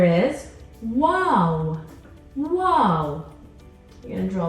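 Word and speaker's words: و: the next letter is wow wow you're gonna draw a line come back up and bring it back down wow wow that makes a sound what and this is your W sound in English wow and this brings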